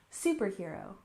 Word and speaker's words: superhero: and next we have superhero we stress the first syllable superhero superhero I'm sure you're familiar